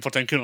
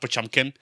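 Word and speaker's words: Potemkin: Yeah, but Potmpenkin, we definitely call Potmpenkin Potmpkin on purpose, not Pachumpkin, which is the actual pronunciation of the name.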